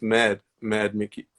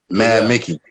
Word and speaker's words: MVD.Micki: MVD.Micki is actually pronounced Mad Mickey. Mad Mickey.